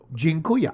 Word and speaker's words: Dziękuję: It's Dziękuję. association. That's how you remember That's stuff. exactly how I think about all languages. So, hey, Jeremy, jeans are cool, yeah? Dziękuję.